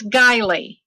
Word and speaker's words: Guiley: Can you pronounce it for us, please? It's Guiley.